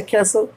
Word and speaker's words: castle: अब जैसे इसे पढ़ा था रसल, तो कैसे पढ़ते कैसल नहीं। अब यहाँ सी ए का प्रोनाउंसिएशन हो गया क्या, क्या, सी का क्या हो गया क्या।